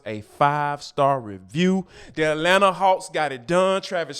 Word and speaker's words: Atlanta: boy Anthony Edwards is straight up Atlanta yes I meant to not pronounce that second T but before we get